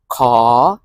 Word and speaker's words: ขอ: In Thai, ขอ rising tone.